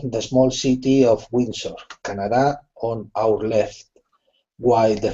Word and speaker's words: Canada: english this is well the word has the emphasis on the first syllable so it's canada know yeah and then